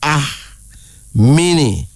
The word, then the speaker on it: Amini: A-M-I-N-I, pronounced Ahmini.